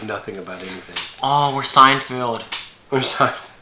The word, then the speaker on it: Seinfeld: Oh, we're Seinfeld. We're It's Seinfeld. Seinfeld. Seinfeld. Sorry. Like a sign in the field.